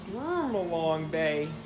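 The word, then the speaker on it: Stormalong Bay: Sturmalong Bay. That's how you pronounce it.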